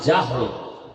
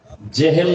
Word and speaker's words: জাহাল: নাম এইমাত্র তো বললাম আবু জাহাল জেহেল না জাহাল নাম হলো ইমাম গাজালি